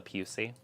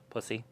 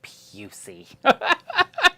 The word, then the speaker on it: Pusey: And it's spelled just like it sounds. Pussy. And so I had to get up. And I'm like, and I'm reading and I get to her name. And I'm like, and she's like, it's Pusey. And you're like, are you sure?